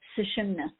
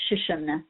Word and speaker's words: Sushumna: And this one is called the Sushumna, sometimes pronounced Shushumna, and it runs up